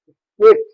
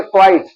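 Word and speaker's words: quite: क्विट ये इसको कहेंगे क्वाइट।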